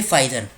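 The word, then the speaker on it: Pfizer: अब लगे हाथ दूसरी देशों की कंपनी भी देख लेते हैं, जैसे फाइजर। पी यहां पर साइलेंट है।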